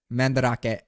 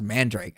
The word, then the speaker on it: mandrake: I always pronounced that word mandarake, and then I was like, "Bro, it's pronounced." So someone was like, "Bro, it's pronounced mandrake."